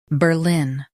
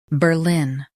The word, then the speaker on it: Berlin: Ber lin Berlin Emphasize ber and keep lin strong. Ber lin Berlin Practice repeatedly and you'll soon be able to say this word perfectly.